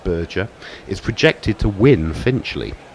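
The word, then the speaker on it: Berger: Luciana burger it and apparently is pronounced burger is projected to win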